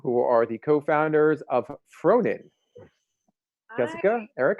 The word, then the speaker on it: Frohnen: umlaut above the O in the middle of Frohnen. Is that how you pronounce it? Yeah, you got it. It's Yeah. actually the German word for indulge. Ooh, I like that. Nice. Frohnen.